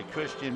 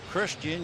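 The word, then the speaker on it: Cristhian: Christian, you would think, would begin CH. Well, with this Martinez, it's C-R-I-S-T, then the H. It's almost like you have a lisp when you pronounce it.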